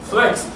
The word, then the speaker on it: flicks: Flex. Pero no se escribe con X, se escribe C-K-S. Flex.